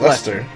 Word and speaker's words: Leicester: And yes, it's pronounced Leicester.